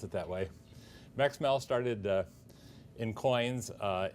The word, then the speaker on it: Max Mehl: So they're not I did not make an attempt to take B-Max Mel.